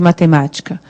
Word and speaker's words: matemática: Qual é a sílaba tônica de matemática? O matemática. É o má que eu fico mais tempo pronunciando.